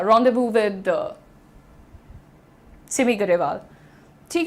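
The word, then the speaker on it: rendezvous: अपॉस्टफी apostrophe pronounce रदबु। इट इज़ रदव। बहुत सारे लोग उसको रदश्वस बोलते हैं। लेकिन इट इज़ रदव।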